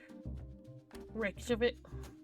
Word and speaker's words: Reykjavik: I forgot how to pronounce this already. Reykjavik.